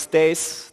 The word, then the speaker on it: Thijs: was the intro hi everyone my name is Stace that's indeed how you pronounced that I'm a Technical Evangelist sad varnish